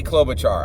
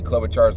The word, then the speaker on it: Klobuchar: and it is Amy Klobuchar I know Amy clever Charles last name is spelled with a k it's just a mnemonic I used thanks for your patience